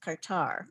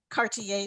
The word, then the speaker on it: Kartar: who may be wondering my name is actually pronounced qatar qatar i'm sorry see you like you know that and i always ask in the beginning oh my gosh so no one's embarrassed some people say cartier diamond i love it okay